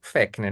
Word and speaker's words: Fechner: psicofísica, que foi o Fechner que vai desenvolver. O Lacan não cita ele aqui, mas ele está criticando Fechner, né? Fechner ou Fechner, se escreve com CH, né? Fechner.